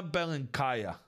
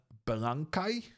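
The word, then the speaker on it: Беленькая: The reason we are watching the one and only Dina Belenkaya, or as I've been taught, apparently it's pronounced Dina Belankai? Belankai? Apparently you don't pronounce the A at the end.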